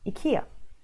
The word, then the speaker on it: IKEA: and lo and behold I think the correct fire or the Swedish way of saying this word is akia obviously with up on